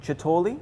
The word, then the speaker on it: Ciatoli: Brian Caza, Adriano Chotoli. Chotoli. Chotoli, like Yeah, he says totally Chotoli. Totally because it's spelled Ciatoli, right?